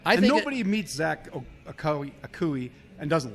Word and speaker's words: Akoué: Akoué, yeah.